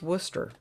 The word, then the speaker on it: Worcester: one of my favorites it is not spelled the way it sounds at all it's spelled like wer who wood wood Woodchester or something like that I was informed it's pronounced Worcester um Oklahoma really doesn't